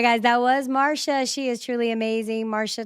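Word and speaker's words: Marcia: And it is pronounced Marsha. It's pronounced the M A R S H A Marsha, but it's spelled M A R C I A.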